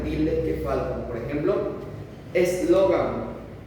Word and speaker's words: eslogan: Por ejemplo, eslogan. Eslogan, ¿dónde carga la voz? ¿En la A?